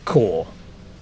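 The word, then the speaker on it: Korps: it's it's spelled corpse it is spelled k o r ps But it's pronounced core.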